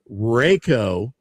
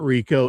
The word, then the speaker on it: Raiko: Two Oh, and by the way, I do have the definitive pronunciation on our good buddy Raiko. It is not Rico, it is Raiko.